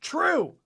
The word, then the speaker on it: Trieu: This one's from Pop215, who said, it's pronounced true. True. Stop saying it the wrong way. And then they gave us 3 stars. Yeah. So fuck you. I'm pronouncing it Trieu through this whole episode just for you.